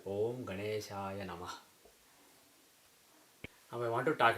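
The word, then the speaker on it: ॐ गणेशाय नमः: So you don't basically remove the A at the end of a word automatically. So when you see a mantra like this, you should pronounce as Om Ganeshaya Namah.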